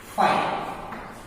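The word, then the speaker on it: φ: Called null set या फिर empty set. ये इसका सिंबल है डिनोटेड बाय फाइव, इसका डिनोटेड बाय फाइव यानी PHI, फी बोलते हैं हम लोग। इसको प्रोनाउंसिएशन कैसे करते हैं? फाइव।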